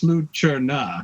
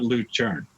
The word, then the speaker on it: Lucerna: But you're sure it's Lucerna, not Lucerne, because there's a difference.